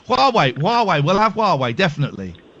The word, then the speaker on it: Huawei: think it's h yes I think it's Huawei but who are we is is is just as good who are we who are we who are we who are we all right Huawei Huawei we'll have Huawei